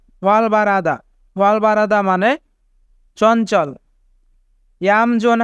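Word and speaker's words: 활발하다: ওয়াল বারাদা মানে চঞ্চল এখানে রিউল বাচ্চিমের পরে হিউ থাকার কারণে রিউল বাচ্চিমটি হিউতের স্থানে যাবে তাই উচ্চারণ হবে ওয়াল বারাদা ওয়াল বারাদা মানে চঞ্চল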